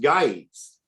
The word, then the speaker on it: Gyges: So a G in Greek that is followed with an E or an I goes to a Y sound. Mm, kind of So it like, should be pronounced guides, right?